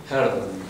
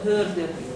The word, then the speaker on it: Hölderlin: Hölderlin. La O suena, se pone la boca como E, pero es O sea, como se hace E, pero hace el sonido Hölderlin.